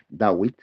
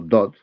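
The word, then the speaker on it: דוד: Ahí habla de del profeta David, Dawid o Dod, del amado. Dod, se escribe Dod o se escribe David.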